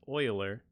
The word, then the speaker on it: Euler: okay so it looks like euler but it's pronounced euler boiler okay was a very prominent mathematician um